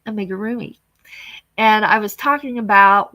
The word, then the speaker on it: amigurumi: And it's called amigurumi.